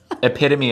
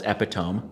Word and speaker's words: epitome: Epitome is one because I always thought it was epitome. Yes. The epitome of happiness. Yes. And then I would hear epitome and be like, yeah, those are obviously two different words.